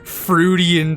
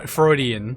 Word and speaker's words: Freudian: She just fruian all over the place. Fro Freudian. That's that that that's how it's pronounced.